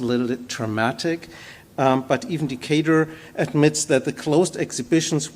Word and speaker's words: Decatur: Decatur, I actually watched a video today to learn how his name is pronounced, Decatur, wrote to his staff.